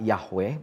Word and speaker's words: Yahweh: ayat yang kedua, Adonai, Yod He Waw He atau dibaca Yahweh, biasa demikian ya, Adonai kalau orang Israel membacanya, Adonai Elohenu karat imanu berit be Horeb.